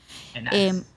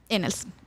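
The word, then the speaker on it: Ennals: la Fundación Martín Inals, creo que así se pronuncia. Enales. Inals, gracias.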